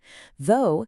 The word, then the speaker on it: though: Though sounds like go, it means but.